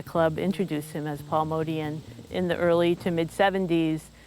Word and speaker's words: Motian: So the family name is Motian, that's how it's been pronounced.